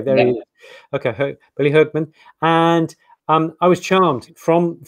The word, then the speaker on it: Hoekman: Billy Hoekman. I think it's Dutch, but that's maybe the first. You're correct. Yes. Yeah. Okay. There he is. Okay. Billy Hoekman.